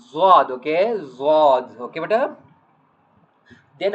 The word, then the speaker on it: ض: One name is dad. Some people saying dad like I think u some Quran reading like uh it is also correct but generally we are reading uh zad.